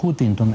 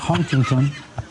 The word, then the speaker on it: Huntington: la razón a Huntington que no es hutington es Huntington es que pronuncia como